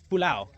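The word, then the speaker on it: pulau: out 17 Islands now naal park or 17 pulao as it's pronounced yeah so uh yeah got the team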